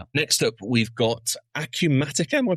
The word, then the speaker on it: Acumatica: Next up, we've got Acumatica. Am I pronouncing that correctly, Ryan? I've never come across these guys before. Is that right, Acumatica?